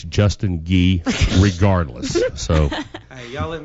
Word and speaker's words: Justin Gee: well I told him until 10:00 tonight it's Justin ghee regardless so hey y'all let me come in